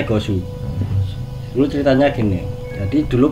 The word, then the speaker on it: Gozu: Gozu ya, Gosu. Dibacanya Gosu.